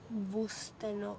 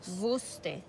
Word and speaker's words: wusste: - It is pronounced as "wusste", not “wosste”.